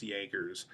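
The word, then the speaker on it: Jaegers: Jaggers and it looks like Jagger but it's pronounced Jaggers and what they will do is they will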